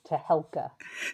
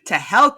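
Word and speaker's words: Tehelka: And off the top, please correct my pronunciation of India's weekly Nice to be here, Rivka, and it's Tahelka. Tahelka.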